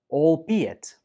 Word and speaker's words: albeit: The stress goes on the second syllable, be. albeit, albeit. Some students say this like albeit, but that's wrong. The second syllable is pronounced B, albeit.